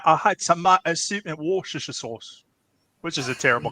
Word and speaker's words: Worcestershire: Hey, If got you your decide- Mini- If you decide to read out Joe Anderson's comment, I'm happy to pronounce that for you. Worcestershire.